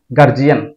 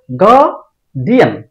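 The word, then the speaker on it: guardian: না এটার উচ্চারণ হবেন তারপর এটাকে আমরা উচ্চারণ করি গার্জিয়ান গার্জিয়ান না এটার উচ্চারণ হবে গার্ডিয়ান গার্ডিয়ান এটাকে আমরা উচ্চারণ করি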